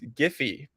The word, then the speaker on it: Giphy: So I was a GIF pronunciator, and unfortunately, I have to say that when speaking with the Giphy team, it is Giphy.